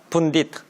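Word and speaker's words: pundit: 그러니까 예를 들어서 어떤 진짜 많이 하는 사람한테 어떤 텔레비전에 많이 나오는 전문가를 펀딧이라고 그러거든요. 영어로 어느 나라 말일까요? 인도 말이에요. 분디트. 이렇게 발음하니까 아시겠죠?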